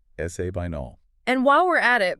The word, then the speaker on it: Sabinal: So, it's spelled s a b i n a l. You do not say sabinol.